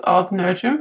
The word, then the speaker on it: Odd Nerdrum: found you because you were a pupil of odd nerdrum did I say his name correctly m in English it's all nerum yeah in English okay fair enough it's strange